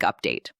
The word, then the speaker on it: update: I wanted to give you a quick update. The word wanted, do not say wanted. Say wanted with a soft t sound in the middle. The word update. Stress the first syllable. Update, not update.